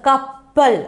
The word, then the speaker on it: கப்பல்: அப்போது நல்லா நான் உச்சரிக்கிறேன் பாருங்கள் கப்பல். அப்போ நீங்கள் உங்களுக்கு அந்த வா எழுத்து எல்லா எழுத்துமே அதில் வந்து விழுகுதா கப்பல். அப்போ க இப்ப இல் கப்பல் க இப்ப இல் கப்பல்.